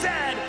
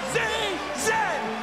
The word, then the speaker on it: zed: The toque is a hat, the Chesterfield is a coach, and it is pronounced Zed, not Z-Z.